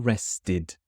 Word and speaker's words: rested: students this one is a te so it's pronounced tid tid well rested MH this means I felt fully recovered I